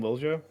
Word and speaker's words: Lilia: Uh how do you say your name? Lilia. Lilia. Yeah, Lilia. Lia. Yeah, Lilia. Like Lil, you're Swedish, Lil.